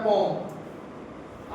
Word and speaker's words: poem: पहले तो आप ये समझो कि जो पोइम होती है ना उसका प्योर प्रोनाउंसिएशन होता है पोम।